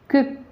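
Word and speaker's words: quick: तो इनमें आपको आपको देखा होगा कि यहाँ जो यू है उसकी वो जो साइलेंट है, यानी कि उसका जो उच्चारण है वो यहाँ नहीं हो रहा है।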